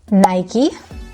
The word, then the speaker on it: Nike: Nike. We actually get rid of the last I.